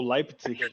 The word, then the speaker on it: Leipzig: visto a faculdade da Universidade Lipzig acho que é assim que pronuncia, Lipzig Lipzig ou Leipzig, não é? É, exato é como se fosse a